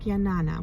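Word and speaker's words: Jnana: G is like a y so it's like yanana which is really pretty right so um yes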